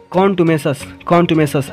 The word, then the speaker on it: contumacious: चलिए देखिए जो ये वर्ड है कंटुमेसस, इसका जो प्रोनाउंसिएशन है यानी कि उच्चारण, इसको बोलने में कैसा लग रहा है। देखिए, कॉन्टुमेसस ऐसे लग रहा है, कौन तुम्हें सास, ठीक है गाइस।